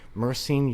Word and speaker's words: myrcene: Myrcene used enough will literally reduce. How do you spell that?